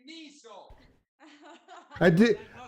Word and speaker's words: Niso: jokes about that, but it's Niso with the N, so I'm going to spell it every time. So would you say that it's pronounced with a Z more than an S? Yes. So it's Niso.